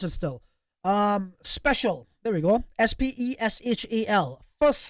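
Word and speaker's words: Speshel: the past three years I know how to pronounce it still um special there we go s-p-e-s-h-e-l first special um imagine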